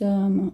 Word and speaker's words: hommes: e des hommes surpris, porque o H é muet em francês, ok? H muet, quando eu falo H muet, quer dizer o H mudo. Muet quer dizer mudo, ok? H muet, H mudo. Então, o S, ele tem a liaison com O, então vai ficar des hommes surpris.